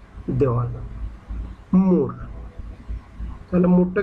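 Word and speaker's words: mur: মুর, এমইউআর, খুবই সিম্পল, মুর, ইংলিশে এমইউআর, মুর, মুর, মুর হলো কি? দেওয়াল, মুর।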